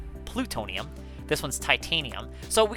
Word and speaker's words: plutonium: And then you got this one, which is plutonium, not platonium, plutonium.